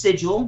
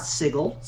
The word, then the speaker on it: sigil: giffers draw me insane pronounced sigil not sigle it's pronounced um wver